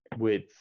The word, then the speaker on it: width: it is but yeah there is that that slight d sound before the th that you need with